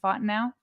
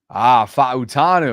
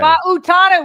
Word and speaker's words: Fa'utanu: How do you say his last name? Fontenot? Fa'utanu. Okay. Fa'utanu. Wow, I was way off.